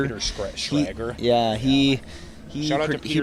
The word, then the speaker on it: Schrager: McCarthy, just like Peter, I don't forget how to say his last name, but Peter Scranger? Peter Schrager.